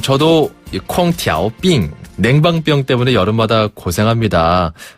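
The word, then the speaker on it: 空调病: 콩티 삥 이건 거죠 한번 더 콩티 삥 콩 티아오 삥 자 그러면 냉방병 걸렸어요 어떻게 합니까네 냉방병 걸렸어요 얻다 뜻에 얻을 자를 중국식으로 발음하면 더어 어 드어 어라고 하거든요 그리고 그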